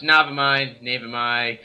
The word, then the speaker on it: Navemai: Yeah, it's Navemai, you am I, he is you, something like that.